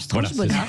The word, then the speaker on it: Strauch-Bonart: Vous répétez son nom, Strauch-Bonnard. Strauch-Bonnard. Voilà, c'est parfait. bien, Voilà. c'est parfait la prononciation. Un côté à l'allemande.